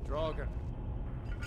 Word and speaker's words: Draugr: Draugr. Ain't you ever seen? A Draugr. One before? That's how you pronounce it.